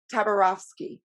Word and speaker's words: Tabarovsky: And we have Tabarovsky. I said that right? Absolutely. Okay. Perfect pronunciation.